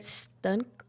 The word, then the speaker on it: Stuenkel: It rhymes with uncle. Okay. It's got an ST in front of it. So Stuenkel. Stuenkel.